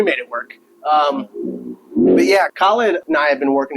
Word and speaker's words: Khalid: He was your name is Khalid because that's what I named you. If people tell you that it's pronounced wrong or that it's westernized, tell them like, yeah, it's westernized. That's what my dad is. It's what he intended.